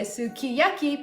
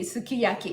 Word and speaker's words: sukiyaki: is very uh actually I know the English pronunciation say Sukiyaki but actually the Japanese pronunciation right way would be Sukiyaki it's like a flat word the Sukiyaki so Sukiyaki